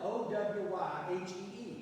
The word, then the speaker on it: Owyhee: But they didn't know how to say Hawaii or how to spell it, so they spelled it O-W-Y-H-E-E, Owyhee.